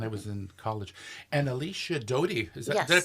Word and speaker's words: Alicia Doty: And Alicia Doty, did I pronounce that correctly?